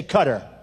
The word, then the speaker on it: Qatar: the airport in k which they say cutter I've always said qar so what the hell